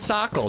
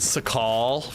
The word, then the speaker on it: Sakhal: but I'm enjoying it sockle it's called socle Dr desync what are you one of those plebs pronouncing it sakal what a noob am